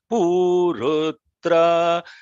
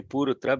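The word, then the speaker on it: पुरुत्रा: See, it is not actually purutra because in Rigvedic chanting the swaritam is pronounced as dirgham. That is, the brother will explain that. So purutra.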